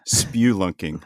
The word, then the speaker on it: spelunking: Well, I've always heard it as spewlunking, like you're spewing something out of your mouth.